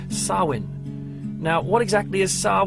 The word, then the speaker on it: Samhain: celebrated by the Irish and the Scots called Sawin now what exactly is SAR when well you might recognize it more being pronounced like Samhain because it's spelled s a.m.